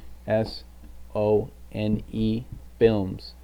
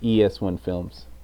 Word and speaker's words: ES1 Films: So ES and then the number 1 spelled out. So ESONE Films. That's on Instagram. That's on Twitter. That is everywhere. LinkedIn, ES1 Films. It's just easy. ES1 Films pronounced.